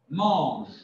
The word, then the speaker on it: mange: Je mange. Le final, on ne prononce pas.